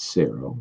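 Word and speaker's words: Xero: C1 Pro chronograph um I think it's Sero that's how we pronounce it I believe um now um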